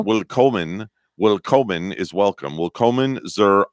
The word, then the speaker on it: Willkommen: No, it's willkommen.